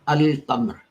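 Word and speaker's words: القمر: But if you have Qamar, then, and you write Al in front of it, then you will have Al-Qamar. So here Al is pronounced in full.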